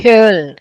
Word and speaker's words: Köln: Architecture in, how you read it? Koln? It's Köln. Köln. Kiel.